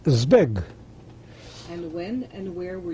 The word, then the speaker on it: Zbig: zed with big following the Zed and it's pronounced Z big rather than Z big like many people say it in English it's Z big and when and where were you born and